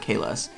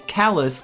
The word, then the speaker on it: Kalis: No, it's not Kalas. Because I used that name before and that's not how it's spelled. It's Kalis, K-A-L-I-S.